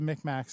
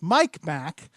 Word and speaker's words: Mi'kmaq: is mi see like like tic tacs with M's Micmacs but the the